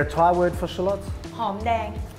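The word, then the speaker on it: หอมแดง: Hom dang. Hom dang.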